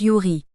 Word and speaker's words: Ewry: aux États-Unis d'Amérique son nom de famille se prononce Yuri son père accoutumé à la boisson abandonne le